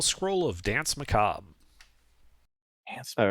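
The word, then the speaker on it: Danse Macabre: It is pronounced Dance Macabre.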